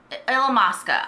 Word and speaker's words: Illamasqua: forget how to say this I love alums Illamasqua I don't know why I just had a